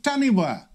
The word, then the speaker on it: taniwha: chinese dragon and the taniwha yes pronounced correctly because tanifa is spelt wrong of maori mythology which